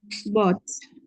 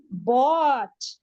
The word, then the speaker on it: bought: his old car and buy becomes bot bought okay without an R okay yes by becomes